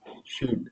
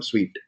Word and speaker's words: suite: And first of all, it's not shoot, it's a suite. We call in TestNG, we call suite, test suite. We pronounce like this, suite.